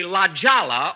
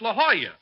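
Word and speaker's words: La Jolla: I'm at the Lajala Autoc Court. It's a lovely place. Jack, that's not Ljala. It's La Hoya. That's how you pronounce it in Spanish.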